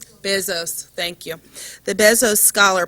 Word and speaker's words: Bezos: us a presentation on the Bezos, did I pronounce it correctly? Bezos, thank you.